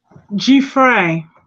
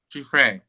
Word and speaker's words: Giuffre: Giuffre. Giuffre.